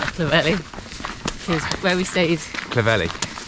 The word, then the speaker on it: Clovelly: So it's day 10 and we're heading to Clovelly. I thought it was Clovelly, but it's not Clovelly.